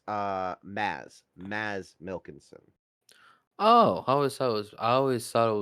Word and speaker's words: Mads Mikkelsen: it's actually so I'm actually mispronouncing it. It's Maz Milkinson. Oh, I always thought it was Mads Mikkelsen.